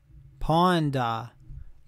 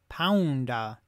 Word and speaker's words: Ponda: Ponda. Okay, so I'm saying it right. Like Honda, but with a P. Yeah, pawn. Pounda.